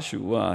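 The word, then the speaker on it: שבעה: 암수 7식이라는 원어는 일곱 시부아 히브리말로 일곱을 시부아 그런데 시부아 세븐이랑 비슷한 발음이죠.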